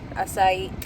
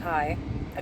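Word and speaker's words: açaí: Starbucks for me I got a uh strawberry asai asai I have to say it like that ever since the girl corrected me one time and I was just like cuz I was calling it Kai a Kai a refresher with light ice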